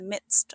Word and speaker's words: midst: Doolittle finds himself in the midst of the jungle. It's pronounced midst with a quiet D and a crisp ending.